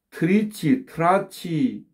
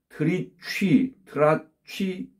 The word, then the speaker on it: 트리치 트라치: 이 발음도 우리나라에서는 이제 트리치, 트라치, 폴카로 이렇게 알려져 있습니다. 그렇지만 원어 발음은 트리취, 트라치, 폴카가 되겠습니다.